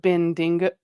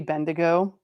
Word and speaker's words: Bendigo: I don't know what bendingo bend. I'm assuming it's supposed to be bendigo and it took me